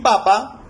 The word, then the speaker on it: papa: En papá nosotros vemos que la tilde se presenta al final, en la última sílaba, papá. Y en papa vemos que hay un acento, pero este no está presente, lo tenemos en la primera sílaba, ¿no?